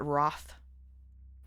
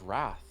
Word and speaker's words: wrath: What do you think about people who pronounce it wroth? I hate it. I know. I've heard you say that. It sounds like froth. It's wrath. Where's Where's the Where's the O coming from? Roth.